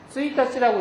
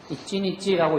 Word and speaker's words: 一日: 그런데 이런 식으로 앞에 나오는 서두가 없이 그냥 바로 이치니치라든가 이런 식으로 나오면은 이것은 그냥 스이타치라고 읽는 게 아니고 그냥 이치니치 그죠? 산니치 이런 식으로 읽어도 상관이 없는 겁니다. 여기서 이것을 주인치상노 스이타치와 노우데스까 이렇게 읽으면 이상한 거예요. 그래서 앞에 월이라고 하는 개념이 없이 그냥 하루가 쓰였을 때는 이치니치라고 읽는 게 좋고요.